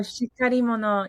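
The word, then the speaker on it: しっかり者: Another word you talk about it's uh pronounced shikari mono, shikari mono? Oh, shikari mono.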